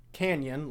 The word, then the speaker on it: Canyon: Canyon, like the Grand Canyon.